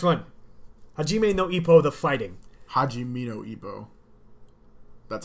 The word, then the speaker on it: Hajime no: Hajimino. That's how it's pronounced.